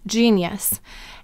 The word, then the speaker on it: genius: And how many syllables in gene-e-us? Three. So let's send it out together. The first syllable is g, j-e. The second syllable is ni, n-e. And the third syllable is us. So do you know why the g said j here? G may soften to j before an e, I, or y.